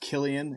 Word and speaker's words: Cillian: He's like a if and I believe it's pronounced Killian if you're from that area of Dublin Killian.